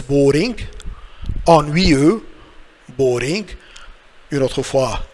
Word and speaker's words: ennuyeux: Après ça, on a ennuyeux. Again. Ennuyeux. Ennuyeux all together. So it's boring. Ennuyeux. Boring. Une autre fois, X est muet, so silent X.